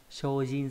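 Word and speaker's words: 精進: Và trong từ này nó không đọc là C mà đọc là sho nhá. Shojin suru có nghĩa là chuyên tâm cống hiến.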